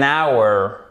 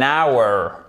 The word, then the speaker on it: hour: An hour. An hour. Une heure. Exactement. An hour. Puisqu'on ne prononce pas le H, donc du coup, ça commence par quoi? Par un son voyelle.